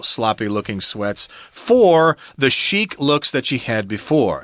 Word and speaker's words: chic: it's pronounced so crazy it looks like you need to say chick right yeah but it's a French word which just means fashionable